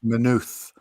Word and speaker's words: Maynooth: There's half an O in it. It's spelt with two O's, but it's actually half an O and a T and half a H. Just like Jack said it.